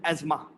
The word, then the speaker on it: asthma: have this breathing problem so it is asthma it is not asthma